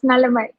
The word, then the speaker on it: Nalammai: I may have pronounced your name wrongly. Please correct it. No. Yeah, it's correct. It's Nalamai.